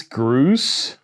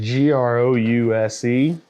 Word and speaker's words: Grouse: it is turn it famous Gru grous spell it spell it for the enunciator famous grous I don't have to spell famous I got that one right grous g r o u s e grous Famous Grouse Smokey I got the